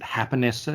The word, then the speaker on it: Japonessa: going to call it japonessa but they pronounce it haponesta because it's a japanese mexican fusion really good sushi though